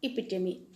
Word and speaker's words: epitome: Children, the meaning of epitome, pronunciation, epitome, it's written here, children.